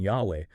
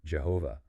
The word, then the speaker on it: יהוה: We've traced its likely original pronunciation, Yahweh. We've uncovered the history behind the popular but well inaccurate Jehovah.